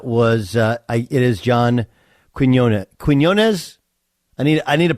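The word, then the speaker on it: Quiñones: Yeah. Quinones? It's like guacamole, stuff like that.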